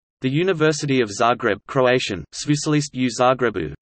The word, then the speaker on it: Sveučilište u Zagrebu: The University of Zagreb, Croatian, Sveučilište u Zagrebu, pronounced Sit, ili te u Zgrebu, Latin, Universitas Studiorum Zagrebiensis, is the largest Croatian